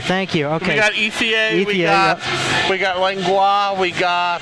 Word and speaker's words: Ethier: Ethier. Thank you. Okay. We got Ethier.